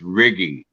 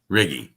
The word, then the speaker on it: Righi: been butchered before anyhow my italian it's italian name it's riggy riggy i thought that was